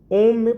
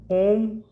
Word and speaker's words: ओम: है तो कुल मिलाकर ओम को जब बोलेंगे तो ओ की मात्रा ज्यादा होती है और मां की मात्रा 35 30 35 पर तक रहती है तो ओवरऑल देखें तो ओम जब बोलेंगे ओम का उच्चारण जो हो वह इसी रेशियो में होना चाहिए और ओम में कुछ